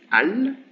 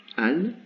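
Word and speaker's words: ال: We will, so as I said, the definite article is al, alif lam, al. Here there is a voyelle de liaison, a vowel of liaison, which is the fatha, al.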